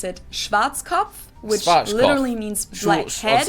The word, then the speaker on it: Schwarzkopf: In German, we pronounce it Schwarzkopf, which literally means black head. I'd say Schwarzkopf. Schwarzkopf. English native speakers usually pronounce it Schwarzkopf or Schwarzkopf or something along those lines.